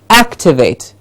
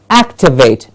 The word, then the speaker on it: activate: act to wait yes so a stressed syllable has to be said higher activate and what happens with that is you much better clarity of saying the word activate and the MA in